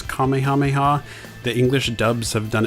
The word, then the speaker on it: Kamehameha: Some have pronounced it as Kamehameha or Kamehameha, and others have said Kamehameha. Apparently that is the more correct way to say it.